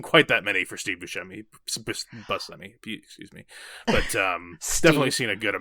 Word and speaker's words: Buscemi: And this is how apparently you pronounce his name, Steve Buscemi. Steve Buscemi? Buscemi is probably more commonly said, but apparently that is with the Italian pronunciation, which we've been studying our Italian, so we'll go with Buscemi for the purpose.